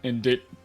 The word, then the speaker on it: indict: cannot let you in indict the witness indict indict IND okay I was like that I know it's Indi but I guess that's how you spell it that's how it spelled unfortunately this ends the